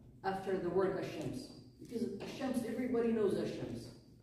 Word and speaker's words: ash-Shams: Say the word ash-Shams. Did you pronounce the al? No.